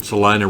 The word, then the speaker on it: Salina: up well you know in Salina rhymes with Regina oh yeah well John